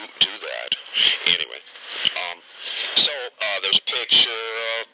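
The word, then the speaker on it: Douthat: Anyway, screaming headlines, and this is an opinion written by Ross, I hope I'm pronouncing this correctly, Douhat, D-O-U-T-H-A-T, Douhat.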